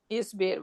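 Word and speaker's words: اِصْبِر: Hamza, we're gonna bring the Hamza, and the Hamza will have a kasra. Good. Because except Dhamma, everything else should have a kasra. Yes. So now how are we gonna pronounce Hamza. that? So it's gonna be Esbir. Isbir.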